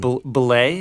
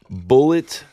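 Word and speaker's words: Bulleit: It's spelled a little weird, though. Yeah, what in the world? Belay? How do you say that? No. That, our friends, is the tasty Bullet Bourbon.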